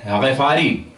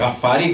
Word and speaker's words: غفاری: تھے حضرت ابو ذر غفاری، ہمارے عام طور پہ غفاری کہہ دیتے ہیں، صحیح تلفظ ہے غفاری، یہ قبیلہ غفار سے تھے۔ ان کا نام تھا